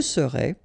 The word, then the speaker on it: serais: Je serais, tu serais, il serait, elle serait, nous serions, vous seriez, il serait, elle serait. Okay, so let's see how it goes. Je serais, final S not pronounced.